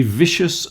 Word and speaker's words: vicious: A vicious circle. You all know what a vicious circle is, but that's the pronunciation. A vicious. Vicious with a VV at the beginning and a sh in the middle.